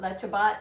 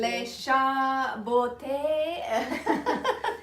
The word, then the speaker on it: Le Chaboté: So it's not Lechabot? It's not. I just completely slaughtered it. It's some kind of fancy French pronunciation. Le Chaboté.